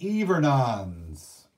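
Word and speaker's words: hivernants: voyagers pork eaters and even ons all right every nones that's pronounced even on the pork eater is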